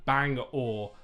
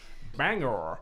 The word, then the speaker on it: Bangor: And also, Bradley Davis has said, bang or, like the stick that you use to row a boat. Okay. We've been corrected. But it's Bang American. or. They changed how it's said. Bangor.